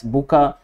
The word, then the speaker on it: Bucha: And this pronunciation for Bucha in different there are certain places where they pronounce it as Buka, and some places they pronounce it as Bucha, but whatever. So we can take whatever we like it, that's it.